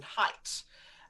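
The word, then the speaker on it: Haidt: and neurologist called jonathan height um it's spelt h-a-i-d-t but apparently he says it's height not hate he doesn't want his surname to be hate but basically he documented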